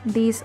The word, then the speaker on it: these: Luego tenemos el plural, these are apples. La diferencia de la pronunciación es que en plural tienen que pronunciar la i por mucho más tiempo.